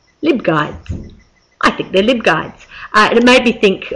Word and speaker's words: LibGuides: little subject portals you can make online are live guides or lib guides I think they're lib guides uh it made me think of what other